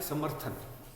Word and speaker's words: समर्थन: इस र का उच्चारण पहला होता है। ऊपर वाले जो रण होते हैं, ये जिस वर्ण पे लगे होते हैं, उनसे पहले इनका उच्चारण आता है, इनसे पहले इनका उच्चारण आता है। तो समर्थन, थ से पहले र का हम उच्चारण कर रहे हैं, जैसे यहाँ पे